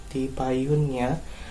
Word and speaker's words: tipayunnya: Ya, kemudian yang selanjutnya ada ungkapan yang selanjutnya adalah tipayunnya. Tipayunnya artinya adalah duluan ya, namun ini digunakan untuk pada yang hormat ya.